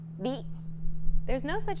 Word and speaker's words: り: This character isn't pronounced using an English R sound at all. うり It's like a mixture between an R and an L sound. り There's no such sound